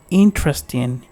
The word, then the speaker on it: interesting: En este caso, la E no se pronuncia y suena como interesting, interesting, interesting.